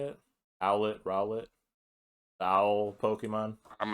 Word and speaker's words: Rowlet: you pronounce it but it's just owlet with an r at the start okay then yeah you're